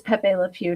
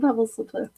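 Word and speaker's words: Pepé Le Pew: So, oh, it is Pepe Le Pew, not Pebbles. I just love Pebbles Le Pew.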